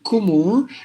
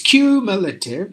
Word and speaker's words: cumulative: so like this cumulative it's not kumu it's cumulative meditative imitative representative um that's